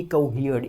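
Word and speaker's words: cohered: रहेगी वो भी रहेगी कोहियर्ड, ईडी इसका मतलब इसमें लग जाएगा। और इसका जो प्रोनाउंसिएशन होगा दोस्तों वो होगा कोहियर्ड, कोहियर्ड, कोहियर्ड, कोहियर्ड, कोहियर्ड। जो स्ट्रेस है वो ह वाली साउंड के ऊपर रहेगा।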